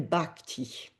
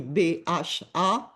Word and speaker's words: bhakti: langue savante et ancienne de l'hindouisme, on appelle bhakti. Je peux l'épeler dans sa transcription, ça s'écrit B-H-A-K-T-I.